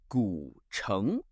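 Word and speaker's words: 古城: Our next word is gǔchéng, pronounced gǔchéng.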